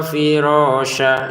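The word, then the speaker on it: فِرَاشًا: Firashan tulisannya, firasha bacaannya ya, cara bacanya. Kalau memang kita berhenti di sini.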